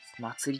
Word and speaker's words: 祀り: 祭りって読むんだね。